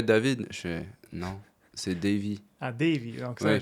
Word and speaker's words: Davy: En fait, mon vrai nom c'est Davy, mais voilà, au Canada par exemple, ils me rajoutent toujours des petits suppléments. Ils m'appellent David.